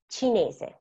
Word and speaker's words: cinese: In Italian, la lettera C can have a sweet sound or a hard sound, suono dolce o suono duro. So, suono dolce sounds like a C, and it's produced when we have la C followed by a E or C and E. For example, C and E is C. Cinese.